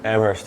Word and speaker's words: Amherst: Amherst, yeah. Amherst College. How you pronounce it.